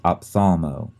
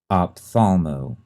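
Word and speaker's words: ophthalmo: tricky to spell because it has that first H in there that is silent we don't say it it's very easy to leave it out opthalmo op t h a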